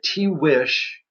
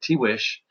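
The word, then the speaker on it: Tiguex: today uh called themselves it's a mishearing of the word but that's how they pronounced it t wish and these 12 pueblos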